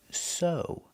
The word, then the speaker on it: sew: This word is pronounced so. The e W makes the long O sound like no and grow.